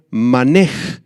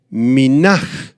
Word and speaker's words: mene: pared fueron mene mene provienen del arameo manej o Minaj son dos pronunciaciones posibles manej o Minaj se